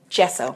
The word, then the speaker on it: gesso: I used a coat of gesso. Mm-hmm. Am I saying it right? You are.